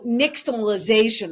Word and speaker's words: nixtamalization: I was going to ask you how to pronounce that. Right. So nixtamalization or nixtamalizing means you're using ash to boil